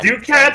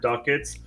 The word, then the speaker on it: ducat: Yeah, it's ducat specifically cuz I live so much of my life misunderstanding how to say the word duckets because for